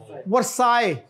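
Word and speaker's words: Versailles: इज it true ट the treaty of वल वरसाई वरसाई वा साइंड ऑन जून 28 191 वसाय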